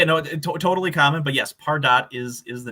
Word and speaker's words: Pardot: I wondered, I was saying Pardot originally, many years ago, sure. and turns out it's Pardot.